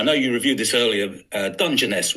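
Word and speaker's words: Dungeness: Dungeoness we call it soft G.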